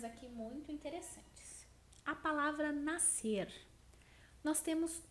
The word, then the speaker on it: nascer: Nós falamos nascer. E como a representação do SC ele é dado por um único som, por um único fonema, nós classificamos essa palavra como um dígrafo.